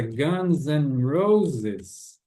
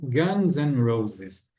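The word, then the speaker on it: Guns N' Roses: significa e em inglês não precisa ser enfatizada né é apenas um sonzinho de n de n igual uma banda eu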